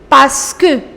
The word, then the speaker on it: parce que: Parce que. Parce que, which means because. Parce que. Remember, you do not pronounce this R.